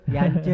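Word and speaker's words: Jantje: Siapa? Jance. Yance Yance. ya, Bacanya Yance. iya. J-nya nggak dibaca gitu.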